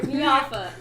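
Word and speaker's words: Miafa: Mafa. Mafa. Oh, did you spell it again? You said M. M I A F A. It's Miata with an F.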